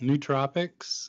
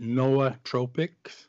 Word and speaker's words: nootropics: some guys pronounced at NOAA tropic some guys pronounced at nootropic and I figure that it's not worth arguing about I'm the expert I'm the authority so I say new tropics so that's what it's